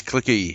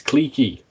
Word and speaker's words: cliquey: Why can nobody pronounce the word clique? It's not clicky, it's cliquey.